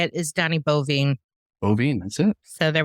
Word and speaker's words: Boivin: Donnie Boivin.